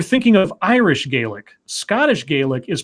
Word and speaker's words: Gaelic: Scottish Gaelic is pronounced the same way as a Bostonian says garlic.